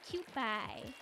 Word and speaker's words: Kewpie: It kind of spelled like a Q pie almost. Like a pew at church, but Q, it's Q pie. It's Kewpie mayo.